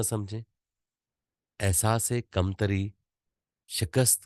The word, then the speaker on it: शिकस्त: आप इसको शिकस्त ही पढ़ें। शिकिस्त पढ़ेंगे तो लोग कहेंगे कि आजम साहब ने चवल ही मारी है। समझ तो गया हूँ सर। ठीक है जी। साइलेंट समझ गया। हाँ जी। जी सर। तो आपने शिकस्त ही पढ़ना है।